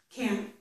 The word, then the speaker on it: can't: I'm stopping the air in my throat, but I put my tongue up here. Can't. Some people might only stop the air around their mouth and not in their throat. Maybe pronouncing it one way in one sentence and another in another sentence. But the thing is that we do put our tongue there for the N and the T, but we don't release it, okay?